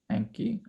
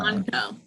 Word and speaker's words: Anko: Anki. No. Anko.